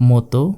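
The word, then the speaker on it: もっと: Instead of motto, because of small tsu, we should pronounce it as motto.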